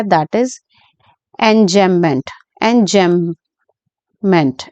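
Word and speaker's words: enjambment: poem के अंदर चल रहा है दैट इज एंजमेंट एन जम मेंट एन जमप मेंट ठीक है ये स्पेलिंग है और एन जमप मेंट जो होता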